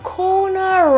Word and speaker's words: corner: Angolo teoricamente dovrebbe essere pronunciato senza le R, quindi cona, cona. Ma in realtà quella R finale si pronuncia se dopo abbiamo una vocale.